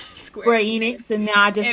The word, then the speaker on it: Square Enix: used to love stairs I I love saying Square Onyx and then I had to give up the ghosts and say Square Enix and now I just say y'all feel better